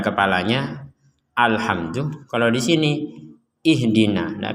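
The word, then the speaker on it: اهدنا: Kalau di sini ihdina. Nah, kenapa di di sini dibaca fathah dan di sini dibaca ee harakat kasrah?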